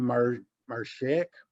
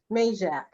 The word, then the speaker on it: Majak: The owner of the TTI company is Jim Marjak. I can't remember how you say his name. Same guy that owns the Perry racetrack. What is it? Majak. Majak.